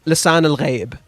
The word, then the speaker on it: Lisan al-Gaib: Lisan al-Gaib. By the way, if you want to learn how to say it correctly, it's Lisan al-Ghaib. That's how you're supposed... It's Arabic.